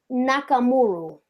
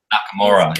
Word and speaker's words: Nakamura: shouldn't I'm butchering this name right now shinuki nakamuro Nakamura yes that's yeah that's yeah yeah I think